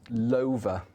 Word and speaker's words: Lover: there is yeah culture technically it's not pronounced lover its brands loafer like Dover Wiltshire it is yeah and